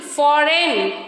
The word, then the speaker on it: foreign: G is silent when it comes before the letter N.